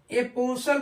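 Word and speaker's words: apostle: है साइलेंट होता है जैसे ए ओ एस टी एल ई इसको हम ए पसल पढ़ते हैं यहां भी टी क्या होता है साइलेंट होता है बी आर आई एस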